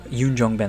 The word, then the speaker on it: Yoon Jong-bin: So Beastie Boys really is a very intriguing early drama film from director Yoon Jong-bin, Yoon Jong-bin, that's why I said it right, who would